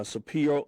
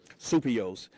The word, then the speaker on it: Souppios: Uh Nick uh Supio, I'm sorry, I mispronounced your name. Supio.